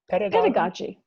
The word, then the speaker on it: pedagogy: Pedagogy.